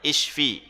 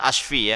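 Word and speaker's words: اشْفِ: Bacanya pakai i depannya isyfi bukan asyfi ya. Karena nanti beda maknanya kebalikannya. Kalau asyfi itu kebalikan dari isyfi. Jadi di sini pakai kasrah.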